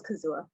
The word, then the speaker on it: Kazua: i see a name kazua sorry sorry if you can say your name correctly and answer the question i'm sorry well you did you said it right it was kazua okay great um i